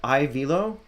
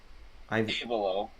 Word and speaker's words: Avelo: So, how should I pronounce that? Is that Ivelo? Avelo.